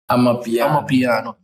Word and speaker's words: Amapiano: But I think, as I said, Amapiano or Apapiano, what do you pronounce that? Amapiano.